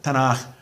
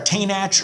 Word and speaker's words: Tanakh: It's sometimes a soft, especially with the Ashkenazi pronunciation. It's a softer Ch, the Tanakh, but it's usually transliterated in English as a CH. Nothing will peg you as a newcomer faster than saying, can I have a Chumash, or is there a Tainach around?